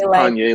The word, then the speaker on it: Panier: Panier, it's Panier, like Kanye with a P.